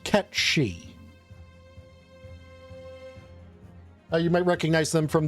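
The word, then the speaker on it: Cait Sìth: Or a character that some of you might be more familiar with, whose name is actually pronounced Ketshi. You might recognize them from the Final Fantasy series. And know them as Kate Sith.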